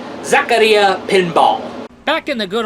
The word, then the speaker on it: Zaccaria: dogs alongside williams especially zakaria oh wow i pronounced right holy